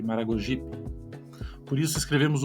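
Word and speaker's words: Maragogipe: posições átonas ou seja esse P ele nunca leva acento tônico não pronunciamos sergip Maragojipe mas sergip Maragojipe por isso escrevemos o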